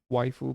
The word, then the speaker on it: waifu: VVAIFU. VVAIFU. Actually, it's supposed to be pronounced as waifu, but anyway, for Dasha, we are okay.